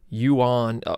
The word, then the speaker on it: yuan: It's kind of pronounced in the U.S., like an English speaker, it's kind of pronounced the same, but it's yuan, Y-U-A-N is the Chinese, and yen, Y-E-N is the Japanese.